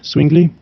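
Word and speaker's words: Zwingli: rey sin swing link en español dice ulrich swing link así la pronunciación el reformador pericos de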